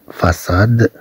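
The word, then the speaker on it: façade: في الحالة الأخرى عندما تكون الصي متبوعة بأ أو إي أو أو، ونريد أن ننطق هذا الصي كأس، طبعا نضيف لها سيديل.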